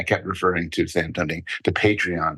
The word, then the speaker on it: Patreon: And then later in the podcast, they gave up and said, Paul, it's actually pronounced Patreon.